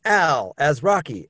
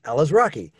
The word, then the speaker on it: Alazraqui: to help people out i always say starring al as rocky ella's rocky so i think it's